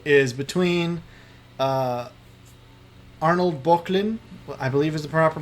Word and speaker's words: Böcklin: if I had to pick between them, the two I would pick, first I should say, is between Arnold Böcklin, I believe is the proper pronunciation.